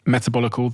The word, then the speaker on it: Metabolical: Did I pronounce that correctly? You did. Metabolical, The Lure and the Lies of Processed Food,